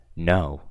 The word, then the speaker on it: know: say for example wrong no okay so here there is no K whatsoever me I don't I never pronounce the K I don't think no I say no however there's a silent K it is what it